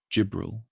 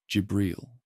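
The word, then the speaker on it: جبريل: In Arabic, Gibbrel. Gibriel.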